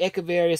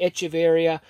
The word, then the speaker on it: Echeveria: as well I noticed some people will say echeveria some people say echeverria again with the pronunciation it